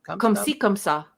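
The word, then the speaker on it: comme ci, comme ça: Come See, Come Sa.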